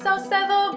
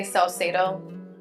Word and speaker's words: Saucedo: Um it's pronounced Salsedo, but the English way I would just say Salsedo.